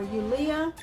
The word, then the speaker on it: Yulia: in a while but her name is julia or yulia it's spelled like julia with a y and i have it